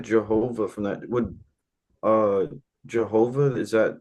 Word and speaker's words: Jehovah: Like it's it's not wrong. It's uh just using a J instead of a Y sound. Um so like the original like the shift of that was into Yhovah and then because of the transliteration into English where we started using J's for stuff including Jesus, that's how we got Jehovah.